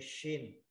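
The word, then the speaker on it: ش: À rồi tới chữ shin. Shin là chữ sh. À mọi người ha, mình phải tập đọc cái chữ shin sh.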